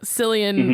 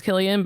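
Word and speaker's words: Cillian: Silian Murphy. That what was that? Killian Murphy.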